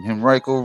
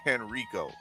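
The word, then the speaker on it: Henrico: in Henriiko, Virginia. That's how you say it. Henriiko. I keep on saying Henrio.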